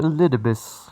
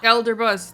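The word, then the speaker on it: Elidibus: rather I called you elbus Elder bus it's pronounced elderbus why aren't you using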